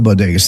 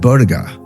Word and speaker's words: bodega: couple years ago and she said Boda and I was like what the heck's Boda but I realized that she couldn't pronounce Bodega which is you know